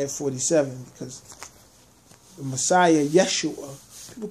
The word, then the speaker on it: Yeshua: I had to add 47 because the Messiah, Yeshua, people call him Jesus. And I only use the word Jesus because people are so used to calling him that, when the pronunciation of his name is Yeshua.